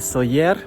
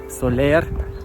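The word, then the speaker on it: Sóller: Говорят Майорка, потому что как-то на слуху привыкли мы правильно говорить. Но такие города, как Сойер, да, и в сети, и в интернете, и люди говорят, просто когда видят название, говорят Солер, Порт-де-Солер.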